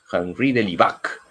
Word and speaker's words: Henri de Lubac: gas general del ivac habría que pronunciar en francés henri del ivac gran amigo también de